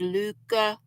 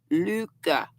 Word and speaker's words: Lykke: Are my well, I have some Luca, which looks like Likey, but it's pronounced Luca. Norwegian lady told the gal that works or owns the Smoky Mountain Spinnery in Gatlinburg that it's pronounced Lykke, Luca.